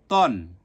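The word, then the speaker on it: طً: এরপরে সদ, সদ দুই জবর সন, দত দুই জবর দন, ত দুই জবর তন, মোটা হবে তন।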